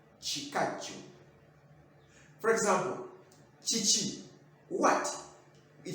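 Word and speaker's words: ekikajjo: For example, sugarcane, it is in Uganda it's called chikaju, not kikaju, because it is ki, ki, but we pronounce it as chi, chikaju.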